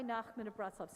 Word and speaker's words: Nachman of Bratslav: Rabbi Nachman of Bratslav.